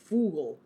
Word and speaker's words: Vogel: Oh, and Vogel is pronounced Fugel.